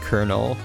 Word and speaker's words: colonel: yeah i don't know i really dislike that it's pronounced colonel um makes me feel like i'm talking to a piece of corn but no we're talking